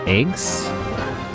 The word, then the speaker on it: AGWS: It's pronounced eggs? Xeno Gears. No, Xenosaga. AGWS. Pronounced eggs.